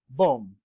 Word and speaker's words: bomb: the following examples uh as in bomb bomb you see that MB pronounced as M alone and the B is silent and all the SS